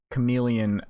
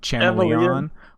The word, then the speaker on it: chameleon: spot it felt like learning that i was pronouncing chameleon uh like like channelion like that sort of